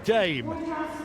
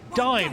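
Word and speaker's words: Daim: Samantha Lane with Dame, 8-year-old Cocker Spaniel from Milton Keynes. Dime, I'm sorry, that's how you should be pronounced, spelt D-A-I-M, loves the crowd and loves Crufts.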